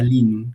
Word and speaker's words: Lean: metodología o más bien la filosofía LIN que se escribe Lean.